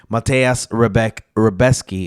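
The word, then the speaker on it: Mateusz Rębecki: coffee in the morning Matas rebec reesy is actually how you say it apparently and of course orobi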